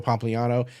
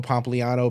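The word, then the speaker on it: Pompliano: the name wrong but I believe it's Joe Pano Joe Pompano p o m p l i a n o on Twitter and basically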